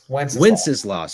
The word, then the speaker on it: Wenceslas: Is that how you pronounce it? Wenceslas.